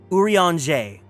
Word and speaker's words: Urianger: Okay, his name is pronounced Urianger.